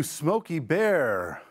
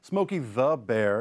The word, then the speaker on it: Smokey Bear: happening all the time people say Smoky the Bear it's actually smokey bear bear is his last name he not Smokey the Bear like Smokey the Bandit but feel free